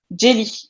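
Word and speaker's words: jeli: vais changer ça Angeli en fait jelly jelly jelly jelly et qui c'est la prononciation dans une dans les langues mandingues donc tous ceux qui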